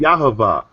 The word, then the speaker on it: Yahweh: Yahavah, because there wasn't no vowels in between. Or Yahweh. Or Right, it's Yahweh.